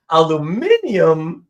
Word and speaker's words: aluminium: Aluminium is exactly how it's spelled.